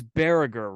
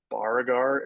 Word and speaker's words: Baragar: of your name because it's barrager right it's barracker correct yeah um probably bargar I feel like it's